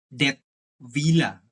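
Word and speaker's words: Dettwiler: serius yang namanya Noah dead villa kalau enggak salah bacanya kayak gitu. Kalau apa namanya? Eh pronunciation eh Jerman ya, karena Swiss kan pakai pakai bahasa Jerman ya, dead villa gitu.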